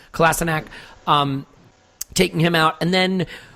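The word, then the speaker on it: Kolašinac: and by the way, yes, we have changed that pronunciation because, as I understand it, that's how he wants to be called, so Kolasinac, taking him out, and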